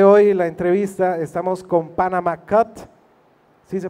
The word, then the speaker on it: Panama Cut: Y bueno, para empezar, el día de hoy la entrevista, estamos con Panama Cut, ¿sí se pronuncia así? Ok, Panama Cut, y los integrantes son… Yo soy David, toco el bajo.